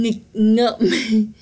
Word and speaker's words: nghịch ngợm: Okay, this word is pronounced nghịch, and ngợm. Close my mouth, see?